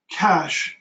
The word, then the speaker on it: cache: Cache, I believe. Got it. Okay, yeah. Just for your information, because you see you put a question mark. It's spelled C-A-C-H-E, and that's cache.